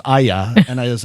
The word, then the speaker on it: Aja: I you know we it should have been spelled aaja that's the way you phonetically spell it and the Hindi Urdu word it means come over but visually Aja looks